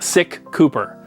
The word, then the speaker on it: SicCooper: which is Cooper so the YouTube channel name is technically pronounced sick Cooper so there it is